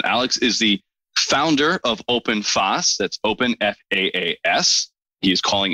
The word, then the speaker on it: OpenFaaS: just clear and cool and lovely did i pronounce open fast correctly you did say how i say it because open fast can you describe what it is yes open